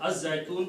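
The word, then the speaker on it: الزيتون: Okay, you don't pronounce because it's Az-Zaytun, but it's actually Al-Zaytun.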